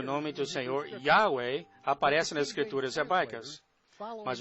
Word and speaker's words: Yahweh: O mundo se afasta ainda mais dessa verdadeira pronúncia, pronunciando erradamente o Yod como J, Jeová, nem mesmo perto da pronúncia correta.